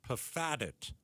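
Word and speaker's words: Pfaadt: Pitcher Brandon Paddit. Close enough. He uh PF double A D. The P really throws you off, doesn't it?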